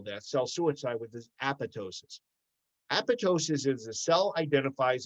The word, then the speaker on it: apoptosis: is this concept of apoptosis which robin just mentioned and just so you know it's a-p-o-p-t-o-s-i-s it's spelled apoptosis the second p is silent so if you talk